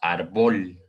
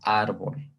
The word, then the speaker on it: árbol: acento, por ejemplo, y quitamos este acento, diríamos árbol, ¿de acuerdo? Y esta se volvería sílaba átona y esta se volvería sílaba tónica. Que obviamente sabemos que no existe árbol, sino árbol, ¿de acuerdo?